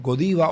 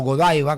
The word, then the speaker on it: Godiva: gustan mucho, que son los godiva o Godaiva, como los quiera pronunciar.